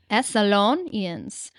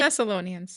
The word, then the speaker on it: Thessalonians: Thessalonians. Thessalonians. Thessalonians.